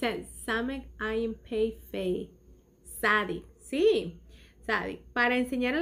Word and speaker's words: Tsadi: Ok, ¿cuál es el comentario aquí de la Sadi? El comentario de la Sadi dice que esta letra es propiamente pronunciada Sadi, Sadi, que tiene dos cabezas, ¿cómo se llama?